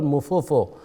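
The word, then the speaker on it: Mpofu: We've got a legendary cricketer, Christopher Mufofo, yes, Mufofo as we pronounce it, talking about yesterday's match, and since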